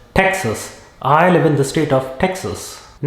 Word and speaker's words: Texas: Next, it is not Texas, it is Texas.